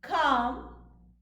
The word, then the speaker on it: calm: let's pronounce them Bob calm palm after a we have the constant cluster LM but please note L is silent Bob calm palm L